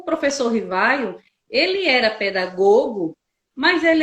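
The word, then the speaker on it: Rivail: Com os estudos do professor Hippolyte Léon Denisard Rivaio, que assumiu... Olha aí a esse é o pronúncia, nome, gente.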